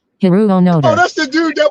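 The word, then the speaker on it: Hiroo Onoda: Hiro Andoa. How you say his name? Let me say it right. This is who y'all is. Y'all Hiro. Hold on. Hiru Onoda.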